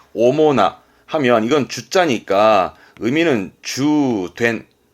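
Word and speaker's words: 主な: 일단 나가오면 발음은 오모나 하면 이건 주자니까 의미는 주된, 뭔가 주된 요소라든가 뒤에 명사 올 때 주된 할 땐 오모나, 주된 오모나.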